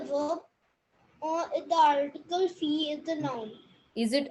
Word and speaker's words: filles: They is the article and feel is the noun. Feel. You don't pronounce the L. It's fee.